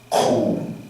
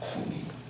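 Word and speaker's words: κοῦμι: 원래 발음은 쿰이. 근데 이제 한글 번역은 그냥 달리다 쿰 이렇게 번역해놨는데, 달리다 쿰이 이게 맞아요.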